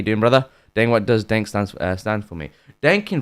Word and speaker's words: Daink: Daink, what does Daink stand for me? Daink in French means crazy. Daink, it means dunk. Dunk, it's spelled like that.